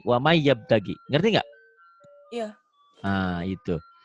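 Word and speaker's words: وَمَن يَبْتَغِ: Waman N-nya nggak dibaca, jadi wamai. Wamai yabtagi.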